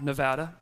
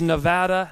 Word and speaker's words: Nevada: right here in Reno Nevada and it is Nevada not Nevada do we know that